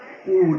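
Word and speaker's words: would: প্রথমে রয়েছে shell, will, তারপরে রয়েছে শুড, উড, এখানে এল উচ্চারণ হবে না, শুড, উড, ক্যান, খুড, এই যে এখানে এল উচ্চারণ হবে না, লিখতে আসবে কিন্তু উচ্চারণ করতে হবে না।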